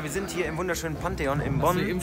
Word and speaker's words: Pantheon: Ja, wir sind heute hier in Bonn im Pantheon. Willst du das richtig ausgesprochen? Pantheon? Ja, ist richtig.